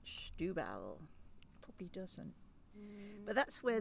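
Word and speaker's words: Setúbal: don't if you say on the bottle it looks like setubal but you pronounce it schtubal probably doesn't but that's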